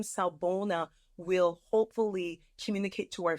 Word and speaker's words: Sawubona: So the name of the group is Salbona, Afrocentric Circle of Support. And yes, I know that's a mouthful, but there's a reason behind that. So Salbona is spelled Sawubona.